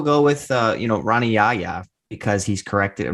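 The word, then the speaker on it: Rani Yahya: pronunciation of the week they played the audio file for how we have always called him hana yaya he calls himself rana yaya he has americanized his name wow well i mean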